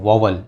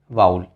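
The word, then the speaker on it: vowel: अच्छा, बहुत से लोग इसको बोलते हैं वॉवल, बहुत से लोग बोलते हैं वाल्स, राइट, बट इसकी जो करेक्ट प्रोनाउंसिएशन है वो है वाउल।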